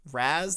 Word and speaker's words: razed: Razed. It's kind of spelled like razzed, but I'm pretty sure it's pronounced raised.